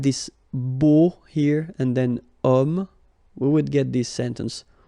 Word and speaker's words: homme: Because homme, well, it's masculine, yes. The reason is that it starts with the sound O, because if you remember carefully, H is not pronounced, so H doesn't exist phonetically.